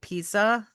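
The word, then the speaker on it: Pieza: Um, there's another group of wasps named, it's spelled p i e za, so it's like pizza.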